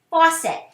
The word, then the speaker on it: faucet: now the next part the next syllable is set now it's not an s it's that soft c again for er faucet that's a two syllable word thaw set faucet there